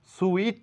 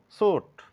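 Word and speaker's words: suit: sound নেই বলবো ফ্রুট সুইট না বলে বলবো সুট আই এর কোন সাউন্ড নেই এটা বুঝিনেস বা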